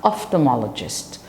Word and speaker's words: ophthalmologist: an optician they have to go see an off regist an ophthalmologist so you have for the children on the